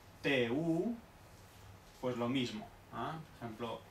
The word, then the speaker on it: du: Por ejemplo, D-U, ¿ah? Con ese tono, por ejemplo, pues no se pronuncia du, sino que se pronuncia tu, tu, tu, como una T española.